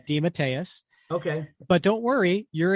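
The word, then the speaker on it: DeMatteis: you should say that did he say it's dadus he says uh when we had him on the show he said it's de matus okay but don't worry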